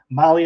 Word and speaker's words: Mahle: And for our podcast listeners, Molly is spelled Mahle.